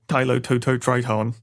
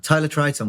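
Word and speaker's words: Tylototriton: Tylo Toto Triton. It's a classic one where it has one extra syllable than you want it to have. Tyler Triton would be really cool.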